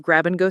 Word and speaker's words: grab and go: Grab and go. Just make sure to pronounce the B in grab clearly. And it's often said quite quickly as it implies speed.